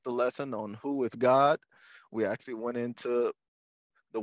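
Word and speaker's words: גד: And it's pronounced God. G-A-W-D. God.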